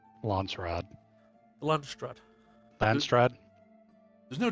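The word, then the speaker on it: Landsraad: really going to need to learn how to pronounce lrod lrad lrad there's no T I keep saying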